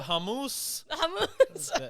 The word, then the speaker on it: hummus: make the hummus now you know the hamus that's how you say it everybody so if you don't